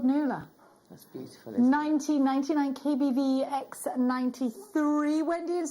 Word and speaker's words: Nuala: what a gorgeous name nuala Lula nula n-u-a-l-a yeah is that how you say it yeah I thought it was new Arla no wow my my